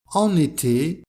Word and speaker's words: en été: Par exemple, en été, il fait chaud, avec la liaison entre en et été.